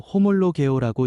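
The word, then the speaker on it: ὁμολογέω: 시인은 헬라어로 호몰로 개오라고 읽습니다. 같은 말로 고백한다.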